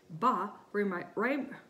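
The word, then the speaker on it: 八: That's because the word for the number 8, ba, rhymes with the word for prosperity, fa.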